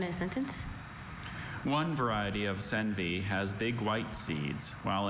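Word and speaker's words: senvy: One variety of senvi has big white seeds while another variety has little brown seeds.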